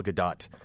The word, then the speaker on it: Gadot: gadot I keep saying I keep seeing her last name and thinking of the play Waiting for Godot so that's how I pronounce it and I'm told the tea has to be pronounced and I so I